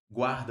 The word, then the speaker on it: guarda: Porque o U é pronunciado. Guarda.